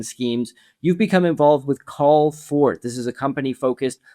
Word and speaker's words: Callfort: It's spelled like it sounds, CALLFORT, one word.